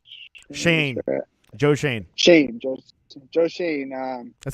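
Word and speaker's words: Schoen: um joe something shane joe shane shane joe shane um that's how you pronounce it it smells like shone but but it's pronounced uh shane exactly right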